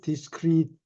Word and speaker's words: discreet: 이게 discreet 이거는 discreet라고 읽는데 신중한 이런 뜻이에요. 근데 똑같은 발음으로 discrete 뒤 글자 et가 바뀌었어요.